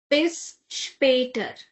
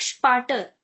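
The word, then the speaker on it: bis später: Now see that is a loud that is not without um it has now. So apater if I remove this then it would sound like sparter but that's wrong that is not correct.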